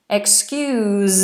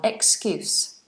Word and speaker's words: excuse: has a zed sound excuse me excuse me it's a stronger sound excuse is a noun is an S sound excuse do you have an